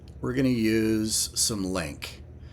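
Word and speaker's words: LINQ: going to use some link link is spelled l NQ and it stands for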